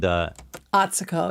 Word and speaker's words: Atsuko: And Atsuko is how you say her name, by the way, everyone.